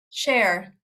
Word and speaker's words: Cher: Cher. Cher. Yeah, singer.